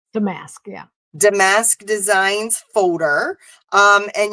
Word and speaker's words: Damask: Damask? Damask, yeah.